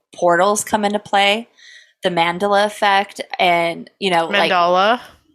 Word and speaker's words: Mandela: No, it's after Nelson Mandela, so it is Mandela. Did I say it right? I don't think you did. Mandala?